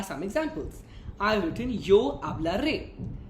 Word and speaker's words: hablar: Let's take the verb speak, that is hablar. ¿Qué significa hablar? To speak. Hablar. The spelling of hablar is Hablar, where H is silent because that's how we do it, right?